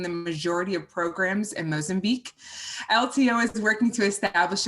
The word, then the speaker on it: Mozambique: marine conservation charity in mazenbuik now i'm going to say that again mozambique mozambique okay and i even looked it up and i still said it wrong so mozambique i'm